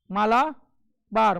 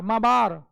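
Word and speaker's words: Malabar: मालाबार केरल वाला तट माला बार मा बार एल साइलेंट होता है लेकिन चकि हम लोग को आदत हो गई है तो मा बार को हम लोग क्या बोलते हैं मालाबार जब कि असल में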